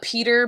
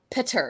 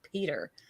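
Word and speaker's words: Petyr: He pronounces Peter Baelish Petter. Yeah. Like Petter. Petter Baelish. I'm like, what is that? That's funny. Incorrect. That's like we wrong. know this is not correct.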